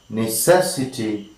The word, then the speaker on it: necessity: Third syllable from the end.